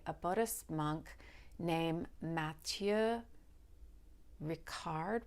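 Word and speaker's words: Matthieu Ricard: Buddhist monk named Matthew Ricard rishard Ricard uh as you can hear from at least my pronunciation of the first part of his name he is French he um got Advanced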